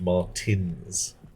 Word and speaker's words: Martens: If you say, yeah, if you're trying to get someone to pronounce Martens, even though Dr. Martens is spelt E-N-S, it is often pronounced Martins.